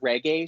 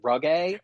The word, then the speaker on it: reggae: When she says the word reggae, she calls it ruggae.